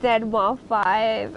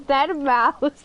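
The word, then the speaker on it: deadmau5: I pronounced it Dead Mouse 5, and she's like, no, girl, it's Dead Mouse.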